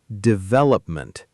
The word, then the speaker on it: development: One more important one, development. The stress goes on the second syllable, develop-ment. A lot of learners accidentally stress the first syllable, which sounds unnatural to native ears.